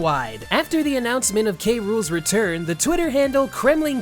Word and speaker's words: K. Rool: the first game where K rules name is spoken verbally being pronounced as K rule in English and in Japanese as king cruel the only other notable